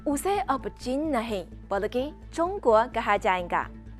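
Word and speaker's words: 中国: यह ऐसा है जैसे चीन का अंग्रेजी में चाइना कहा जाता है, लेकिन चीनी उच्चारण चोंगुओ है, और भारत ने अपना अंग्रेजी नाम इंडिया को बदलकर भारत कर लिया है।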